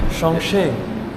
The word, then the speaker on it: Chongqing: Oh yeah, and that was good pronunciation, buzz. Well done. Yeah, I like getting that better one. at that one. Chongqing.